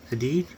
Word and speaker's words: Hadid: week here on eBay Gigi Hadid geeky Gigi Hadid now we're just pronounced e-i-g-i and Hadid I did h-a-d-i-d sorry